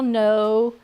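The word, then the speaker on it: know: And then silent letters. So much fun. So much fun in spelling. Because you want to spell no, N-O-W, and it can't be.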